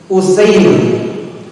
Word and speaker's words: Usair: Dalam hadis yang sahih dari Imam Muslim disebutkan dari Usair ibn Amr wa Yuqal ibn Jabir wa dhammil hamzah wa fathis sin al-muhmalah. Bacanya Usair, hamzahnya dhammah sedangkan sinnya fathah.